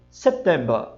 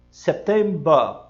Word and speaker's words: September: Se ele disser só o mês, ele vai dizer September. September. Ele não diz September, certo? Esse som de brr é muito americano. Então ele breca aqui e diz September. Este é o som britânico.